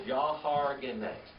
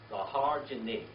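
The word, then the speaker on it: יהרגני: The very last word is Yahargene. How do you spell that? Y-A-H-A-R-G-E-N-I, like genie at the end of it. Okay? Yahargene.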